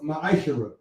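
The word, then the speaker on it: מעשר: It means 10th in Hebrew and is pronounced ma'ashara.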